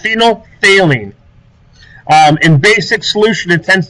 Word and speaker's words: phenolphthalein: to be using later in the year it's pronounced phenolphthalein in basic solution it tends to be purple